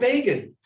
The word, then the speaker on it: Begin: great moment would explain bacon rhymes with fagin right because no one knew how b-e-g-i-n should begin right and i grew up